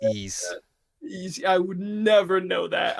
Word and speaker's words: Ys: I for some reason I read that as wise x i x munchkin well that's a lack of jrpg knowledge from you but yeah it's pronounced ease I would never know that I would probably